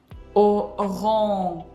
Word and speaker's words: orange: And we pronounce je sound voiced after we pronounced the nasal sound. Otherwise, it's gonna sound like this, orange. You'll hear this O sound, which is not supposed to happen.